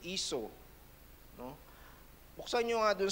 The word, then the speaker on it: Esau: Remember Esau, yun ang pronunciation, Esau.